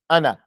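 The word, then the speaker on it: أنا: the book of Allah is no elongation it's not Anna even though the elephant's there and uh it's Anna it's Anna it's Anna it's not Anna there's no elongation to it Anna that's how you say it in Arabic Anna you don't elongate it you don't elongate it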